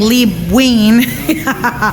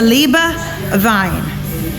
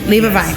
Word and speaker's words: Liebe Wein: wine but before that I was saying Lee Wing so it is a Libra Vine leave a Vine okay all right so